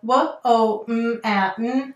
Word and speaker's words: woman: So here we have w-o-m-a-n, but we say woman.